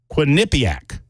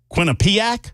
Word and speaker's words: Quinnipiac: believe in wholeheartedly although I cannot pronounce their name it's quu i n n i p IA or I a Quinnipiac that's the way I'm going I always mangle it people always correct me it's I think I did